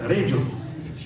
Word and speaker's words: Reggio: C'est comme ça qu'on le prononce? C'est à l'italienne, Reggio.